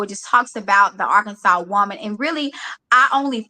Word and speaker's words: Arkansas: How do you say it? Arkansas. Take out the R.